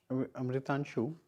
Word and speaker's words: Amritanshu: Amritanshu, I'm pronouncing your name right, no?